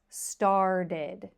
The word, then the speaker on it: started: end in ED, and they all take the same sound, id. id If I say it very slow, decided, invited, started, wanted. So, you can hear that each ending is id.